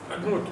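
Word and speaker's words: אדנות: Mais comment on les prononce? Adnout. Adnout. D'accord? C'est très connu.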